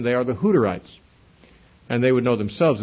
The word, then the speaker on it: Hutterites: them Hutterites is that in English, if you have a double T in the word, that would make the U a short U instead of a long U.